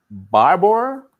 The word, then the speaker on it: Barbour: Item number 2 is a Barbour, is I think how you say it, a bow camp wax jacket.